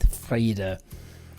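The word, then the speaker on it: Frieda: Curly-haired friend of Charlie Brown, and that was Frida. And I think it's spelled like you would spell it in the proper German, Frida, with the long E being the sound.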